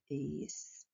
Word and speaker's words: explosão: Explosão. Explosão. Na palavra explosão, a gente vê o X depois do E. O som é de S, porém ela é escrita com X.